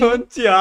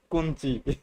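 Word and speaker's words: こんにちは: মানে আমরা কি করলাম কোনচি কোনচি ওটা হবে না।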